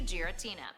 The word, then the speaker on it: Giratina: pokemon but uh guess not and number three giratina giratina is i am why like giratina giratina even google translate knows how to pronounce it and you don't this is your